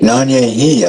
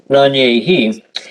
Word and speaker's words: Nanyehi: I mean, they called her Nancy, but what would the Cherokee pronunciation be? Nanyehi, I believe. I agree. Yeah. Nanyehi. And so they just converted that to Nancy.